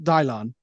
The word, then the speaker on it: Dylan: Dear Gab and Dylan, pronounced Dylon.